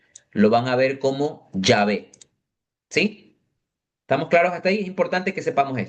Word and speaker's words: Yahvé: proviene del latín es Yahvé, no Jehová. Porque si nosotros vamos al texto original, el texto original es Yhw, que se pronuncia Yahwe, colocándole las dos vocales, más o menos es Yahweé o Yahvé.